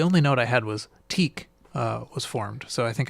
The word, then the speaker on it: TEAC: So you just TEAC, like Yeah. that's how that's pronounced. Is how would you pronounce it? I'm pretty sure I've been saying like Tiak or whatever. And now that I say it out loud, it sounds ridiculous.